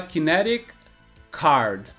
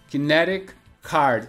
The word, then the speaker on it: kinetic card: E aqui ele fala kinetic card. Kinetic card. Só que como essa palavra kinetic termina com C e a palavra card também começa com C, a gente emenda a pronúncia e é como se tivesse só uma letra C aqui.